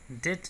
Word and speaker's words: debt: डेट, DEBT को डेट पढ़ते हैं, इसके बी को साइलेंट माना जाता है, इसका मतलब होता है कर्ज।